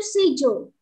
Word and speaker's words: schedule: Jadi mereka ini orang Inggris bacanya itu schedule, gak ada ke-nya, ya. Kenapa kita bacanya itu ada ke-nya? Karena ini nih, ya. Nah ini C-nya di sini kita baca ke. Tetapi kalau misalnya orang British itu digabung, jadi kayak SCHE itu tadi dibacanya she.